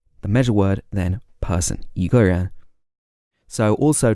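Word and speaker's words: 一个人: The tone of the E changes to a second tone in this case, even though it's written with a first tone.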